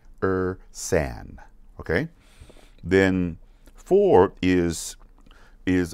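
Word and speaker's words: 三: or pretty simple right the next one is San San is three San E or San E or San okay then four is is a it's the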